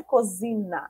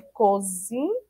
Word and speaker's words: cozinha: ter o meio H se a gente tirar o h para ficar cozinha na né e não é cozina é cozinha por isso que precisa da